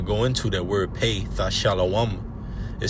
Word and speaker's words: Thashalawam: Which in the Hebrew is pronounced Thashalawam, Thashalawam. And this word pay in